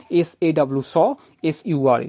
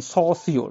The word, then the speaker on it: Saussure: You can say it's like Saw Sure. This is the pronunciation, Saussure, not Saussure or something like that. It's Saussure.